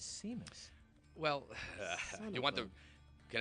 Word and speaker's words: Simas: Growing up, it was Simas. The correct Portuguese pronunciation that I've been told is Simas.